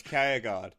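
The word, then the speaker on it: Kjærgaard: pronounce the j there i'm pretty sure it's chaoguard yeah yeah yeah i'm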